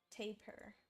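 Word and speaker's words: tapir: Google says it's taper. Taper. Wait, wait, what? Let me see the pronunciation chat. Let's see the W. Siege. Tap her. Tap her. Oh, tap her.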